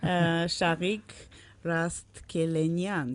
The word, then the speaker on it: Shaghik Rastkelenian: Shaghik Rastkelenian. Yeah. Did I pronounce it right?